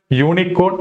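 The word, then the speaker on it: unicorn: ഉച്ചാരണം ആയിരിക്കണം നമ്മൾ നോക്കേണ്ടത് ഇവിടെ യൂണിക്കോൺ എന്ന് പറയുന്ന വാക്ക് ഉച്ചരിക്കുമ്പോൾ അതിന്റെ തുടക്കത്തിൽ നമ്മൾ എങ്ങനെയാണ് പറയുക യു എന്നാണ് എങ്ങനെയാണ് യു അതിലെ യ എന്ന് പറയുന്ന ശബ്ദം എന്ത് ശബ്ദമാണ് കൺസോണന്റ് സൗണ്ട് ആണ് സോ നമുക്ക് ഇവിടെ എന്തേ ഉപയോഗിക്കാവൂ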